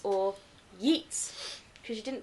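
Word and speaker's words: Geats: is king of the geets or yeets because you didn't pronounce the you don't pronounce the G technically so it's called Yeet land and they're yeets as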